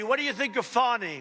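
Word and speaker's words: Fani: do you think of fonnie f do you think fonnie huh h f a ni I that's pronounced Fanny but you're not allowed to say it's fonny oh boy oh boy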